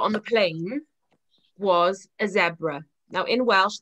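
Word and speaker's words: sebra: And then the last animal that we saw before we got on the plane was a zebra. Now in Welsh, that's zebra with a s sound at the beginning.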